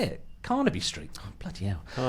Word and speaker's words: Carnaby: So he gave them his his uh offices are in Canabi Street. Canabi Street. Canabi Street. I've forgotten how to say it. Carnaby Street.